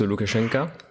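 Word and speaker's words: Лукашенко: Loukachenko, enfin qu'on prononce Loukachenka, mais en tout cas c'est le même dirigeant depuis la chute.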